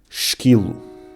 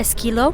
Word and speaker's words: esquilo: So the first half was correct. Esquilo. Esqui, and then Yo. Low.